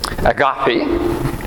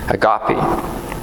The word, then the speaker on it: agape: In Christianity, and it's got 3 different pronunciations of this word. The first one is agape. The second one is agape, and the third one is agape.